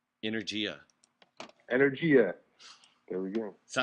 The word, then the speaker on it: energia: You know how to say energy in Italian? No. How do you say that? Energia.